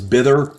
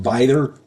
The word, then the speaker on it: Bither: I said it was Bither, and it's not. It's pronounced Bither.